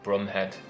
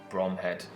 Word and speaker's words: Bromhead: the command of lieutenant gumville brumhead although in 99 cases this is pronounced bromhead and probably as a